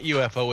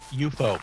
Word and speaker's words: UFO: show no it was not UFO it's UFO UFO yeah that was the way they always pronounced it in the show to make it sound futuristic yeah that's true I